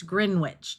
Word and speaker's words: Greenwich: Yeah, and I kept misspelling that word because nowhere is that W pronounced. Yep, and it still isn't, so don't do it. It's Greenwich time.